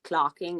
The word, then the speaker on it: clerking: if you're in medicine then this is something called I don't know why they pronounce it as clarking even though you write it as clerking but this is basically